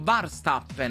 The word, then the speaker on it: Verstappen: Ho scoperto che però Verstappen si pronuncia tipo Varstappen, no?